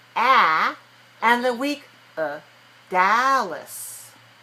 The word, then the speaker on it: Dallas: she's in Dallas okay look at me when I say this word this is the name of a place right d-a-l-l-a-s how many syllables in the word Dallas two where where's this dress um that is um Dallas first syllable okay so which syllable is clear right watch the sound okay what about the second syllable Dallas um week one what